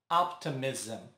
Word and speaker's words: optimism: Optimism. Para melhorar a pronúncia também, é como se acrescentássemos um A entre o S e o M.